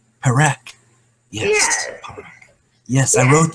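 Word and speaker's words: Parek: Perak.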